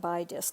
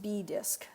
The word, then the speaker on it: bi-disk: the way so or B disc it's called I keep pronouncing it by disc because it's spelled b i and then disk but it's actually pronounced B disc I can barely walk